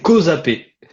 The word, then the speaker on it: Causapé: fait, je me rends pas compte comment on prononce ton nom de famille. Alors, c'est Kozapé. Kozapé.